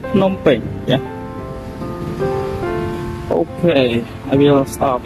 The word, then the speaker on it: Phnom Penh: We pronounce it Phnom Penh, but in our language, we pronounce it Phnom Penh.